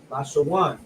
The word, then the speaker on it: Lashawan: This is how you will pronounce it: La, which is the La, the Sha, which is the Sha, and then the Wa and the Na come together, which is pronounced one. Lashawan.